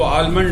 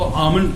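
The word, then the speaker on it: almond: उसके बाद आलमंड हम लोग कहते हैं, ये बादाम जो होता है इसको आलमंड नहीं, इसको आमंड कहा जाता है। ठीक, इसमें एल साइलेंट है।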